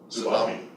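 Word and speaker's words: TSUBAME: Tsubami.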